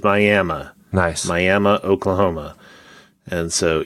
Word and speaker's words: Miami: It is spelled Miami, but in Oklahoma, it is Miami.